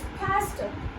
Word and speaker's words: pasta: Well, it is pasta. Now over here, the letter A is not pronounced. Instead, we use the pronunciation ah. This sound over here, it is replaced with this A.